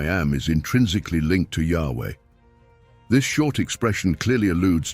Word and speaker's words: Yahweh: However, in biblical times, the name was known and pronounced as Yahweh, or as revealed to us, "I am who sent me to you."